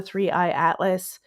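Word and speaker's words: 3I/ATLAS: were talking about the three-eye atlas. I got it right. I said it wrong on Tuesday night. We were talking about the three-eye atlas, and they had mentioned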